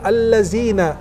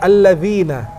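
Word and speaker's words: الذين: ada zat ada Zai Coba kalo baca alladziina beda dengan Al Lavina betul jadi ketika baca a'udzu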